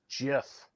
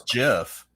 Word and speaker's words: GIF: probably thinks it's pronounced jiff but it is though oh god it is pronounced choosy moms choose jiff but then they'll send